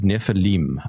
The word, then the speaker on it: Nephilim: Both would work. The the nefil the nefal is sort of the root word, but um im or is both appropriate in this case, which just means plural.